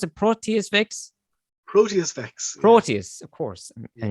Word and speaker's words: Proteus Vex: But and then you've got how do you pronounce it? Proteus Vex? Proteus Vex.